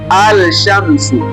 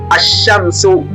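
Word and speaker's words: الشمس: Hatusemi alsshamsu. Hatusemi alsamsu bali tunatamka ashamsu. Ashamsu. Unaona lam imepotea kabisa na herufi shin imekazwa ashamsu.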